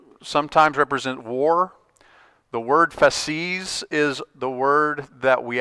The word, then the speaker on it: fasces: I believe you pronounce it fasces.